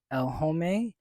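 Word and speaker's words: L'Homme: be a men's cologne it's called elome that's how you pronounce it I believe so it's from YSL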